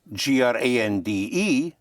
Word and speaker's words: grande: So you add an E for feminine and you pronounce the consonant.